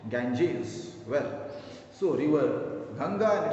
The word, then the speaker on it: Ganges: In Hindi we usually call it Ganga, but in English we pronounce it Ganges.